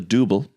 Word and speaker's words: Dooble: It's called the Dooble. Cuz it rhymes with Ruble.